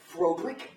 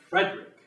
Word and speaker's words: Frederick: not well then your first name do you pronounce it frod no Frederick well why isn't it frodi because it isn't as you wish Master